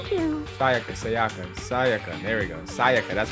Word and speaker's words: Sayaka: Sayaka, that's how you So say it.